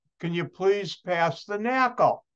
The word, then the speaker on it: NaCl: you please pass the knackle they won't say salt they'll say knuckle and notice if you pronounce NaCl knuckle I hope you enjoyed